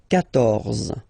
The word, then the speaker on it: quatorze: So remember, Q and U here, well, basically you've got to put this U vowel, because that's the rule in French, even if you don't pronounce it, okay? So you will get the sound K here.